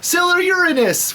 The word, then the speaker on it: Uranus: a Sailor Uranus and they pronounced to sell their Uranus to get over that so it wasn't it wasn't they weren't going around saying oh you're into Sailor Uranus that were saying sila Uranus which you know probably